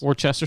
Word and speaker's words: Worcester: I believe it's Worcester. The like pronunciation. The sauce. Just like the sauce. Worcester sauce.